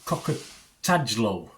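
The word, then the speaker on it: Kokotajlo: It's written and directed by Daniel Cocker-Tadlow. That's how you pronounce that.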